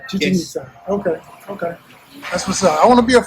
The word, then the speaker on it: Chichen Itza: Chichen Itza. Chichen Itza.